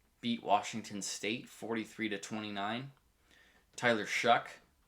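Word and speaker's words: Shough: uh i was wrong it's shuck i i don't understand how s s-h-o-u-g-h comes out to shock but it does apparently 21 for 3 312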